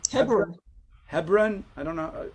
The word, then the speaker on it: Hebron: How do you say Chevron? Hebron.